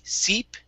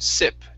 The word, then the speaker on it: sip: All right, let's go to the word sip instead of seep. Okay, give me a short I sound. Sip.